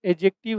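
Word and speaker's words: adjective: Third जो है यहां पर एडजेक्टिव है। ए और जे के बीच में जब भी डी आता है तो साइलेंट होता है। इसको हम लोग प्रोनाउंस नहीं करते हैं।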